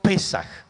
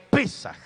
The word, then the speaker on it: Pesaj: Decí conmigo, Pesaj. Con acento en la E. Pesaj.